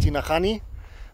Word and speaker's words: Tinajani: Tinajani or as my guide just said, that's actually pronounced Tinahani, means something like pots or jars in Quechua.